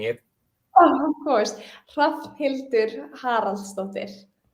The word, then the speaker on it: Hrafnhildur: Everybody gets it wrong, but yeah, Hrafnhildur Haraldsdóttir. How do you say that again? Can you say Can you slow down in pronouncing it? Oh, of course. Hrafnhildur Haraldsdóttir. So, it's silent H, Hrafnhildur.